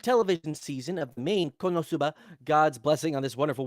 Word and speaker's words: KonoSuba: blessing on this Wonder no you said it wrong Kon animes do what you said it wrong konosuba ah yeah exactly you got to say it like they do with the commcial promo